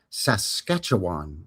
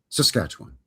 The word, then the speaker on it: Saskatchewan: a bit and go, oh, it's Saskatchewan, which you would be correct, but absolutely wrong. It's actually Saskatchewan. You gotta free run through the first two syllables. Yeah, well, it's too many syllables, so you have to make two of them one, I believe.